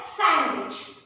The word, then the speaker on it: sandwich: Again, D is silent. And then sandwich.